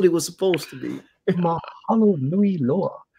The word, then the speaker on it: Mahalo nui loa: Mahalo nui loa. Make sure when you do pronounce any Hawaiian word, just like any Indian word, pronounce every single vowel. Okay, so every single vowel is a syllable.